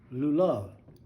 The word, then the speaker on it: lulav: Now the date palms, and I'm going to try to pronounce this in Hebrew, lulav. Anyway, I'll spell it for you, and y'all can figure that out yourself.